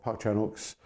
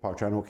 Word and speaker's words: Park Chan-wook: as it were of Park Chanuk's uh revenge trilogy. Uh so I think we might start with Park Chanuk himself. Let's get the name clear first. It is Parkchanuk. The W is not pronounced.